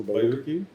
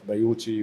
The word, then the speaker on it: Bayouki: متسمي على اسمه اساسا بايوكي، بس هو بيتكتب CH. بس احنا لما عملنا ريسيرش برضو فوكس جروب الناس كلها كانت بتنطقها غلط، بايوتشي بايوتشي، فروحنا الكويت بقى واحنا